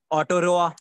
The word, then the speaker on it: Aotearoa: रही है, लिख लो, ऑटियो ऑटियोरोआ, ATEO, इसके स्पेलिंग मुझे देखने तो, AOTEAROA, ये है। इसको पता नहीं किस तरह से पढ़ेंगे, ऑटोरोआ।